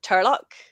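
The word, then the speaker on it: Toirdhealbhach: re but it's a it's like an older Irish spelling and that's the pronunciation of it so that makes it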